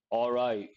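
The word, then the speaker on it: awry: to be careful with pronunciation how do you pronounce this word or right or right so it means go wrong when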